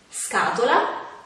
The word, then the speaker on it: scatola: Quando invece sono seguite dalle altre vocali oppure dalla lettera H, si pronunciano in modo più duro. Ad esempio, scatola, scoiattolo, scuola, schermo.